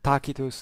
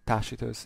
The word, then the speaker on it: Tacitus: go as well so in this case takitos in uh res Tuda and tachitos in ecclesiastical um pronunciation so okay takos tells